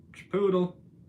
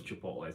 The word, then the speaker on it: Chipotle: Chipoodle. And yes, I know it's Chipotle.